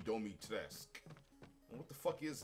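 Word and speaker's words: Dimitrescu: I literally learned that, like, how you pronounce it is Lady Domitresque. And what the fuck is that? Lady D, man. My cousin, man, he was mesmerized by Lady Dominatrix.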